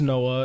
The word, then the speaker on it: Noa: that's his name yeah it's spelled NOA but like Noah is the name of white kids I went to high school with bro yeah it's kind